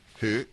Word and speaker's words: Høg: Back in a moment, Høg, or H-O-G, Hug if you wish to pronounce it that the way it looks in English.